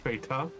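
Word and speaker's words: betta: It's pronounced beta. A beta fish.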